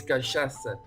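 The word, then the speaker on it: cachaça: this is here Brazil it's kasasa ah spelled like an S and that woman it's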